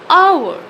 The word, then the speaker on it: hour: the start for example hour although it's starting with h but we don't pronounce it as we call it our okay it's starting with